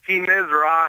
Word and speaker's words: He-Nis-Ra: Is it He-Nis-Ra or He-Nis-Ra? He-Nis-Ra is kind of how we would pronounce it. Okay. That's even correct, actually.